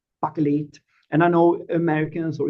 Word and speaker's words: Bakelit: But uh I like the the sound of the name and it's buckle and I know Americans or English people cannot pronounce it.